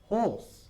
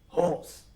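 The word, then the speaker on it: hoarse: Horse. Horse. Se pronuncia igual que un caballo. Horse.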